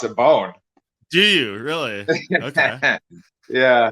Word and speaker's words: Bohn: I pronounce it Bone.